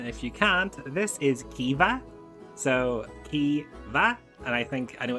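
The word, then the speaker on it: Caoimhe: So see if you can pronounce that, and if you can't, this is Kiva.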